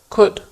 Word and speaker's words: could: the pronunciation of could you do not pronounce the letter L in the word could you will also find